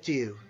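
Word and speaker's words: Týr: named de and it's it's spelled tyr but it's sort of pronounced like t o o almost today the so this is the day of two or tues day the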